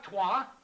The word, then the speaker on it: trois: Alisi, Troy, Troy, Ducks, Ducks. You don't say it the way you spell it. It's trois, dear, dear.